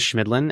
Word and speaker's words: Chemidlin: eight times but hey my last name is schmidlin and I guarantee nobody knows how to spell that so I feel I I understand yeah